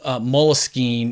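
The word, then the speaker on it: Moleskine: the right page and they say there is no one right way to say it and and it's because it's actually a French word the company Mulla scheme is a relatively recent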